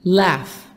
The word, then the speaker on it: laugh: They can laugh. Laugh. G-H. تنطق F.